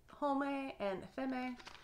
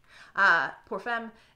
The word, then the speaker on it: Pour Femme: Then we have Dolce & Gabbana Light Blue for Home and Femme. I know that's not how you say it. Pour Femme.